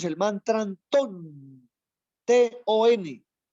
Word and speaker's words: TON: Cuando el aire está ingresando, nosotros pronunciamos el mantra TON, T-O-N, T de Tao, O de orden, N de naturaleza, TON.